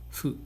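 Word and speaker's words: ふ: So we pronounce fu as slightly in the middle of H and F. We pronounce it as fu, fu.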